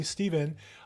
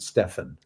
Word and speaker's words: Stephan: some Realtors and one of them is Steven uh thank you for joining us today well thank you so much Bill could Ju Just I point out that I pronounced it Stefan Stefan I knew I was G get it